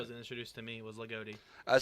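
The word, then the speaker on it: Loogootee: also a station in Lagodi. So, but that's the way most of the people in that area pronounce it, as Lagodi. Yeah. Right. That's how it was introduced to me, was Lagodi.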